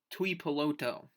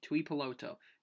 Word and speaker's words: Tuipulotu: Tuipulotu. See, the first name's messing up. Tuipulotu. Tuipulotu. You got to say it really slow for it to work.